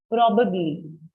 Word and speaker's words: probably: जो stress है ना, जो stress है word का, वो syllable पहले syllable पे, so it's a o sound. Probably. Probably. Yes, correct. Stress on the first part of the word.